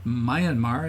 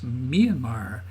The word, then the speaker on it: Myanmar: name of the country it's not Mayan Mar it's Myanmar and you'll notice on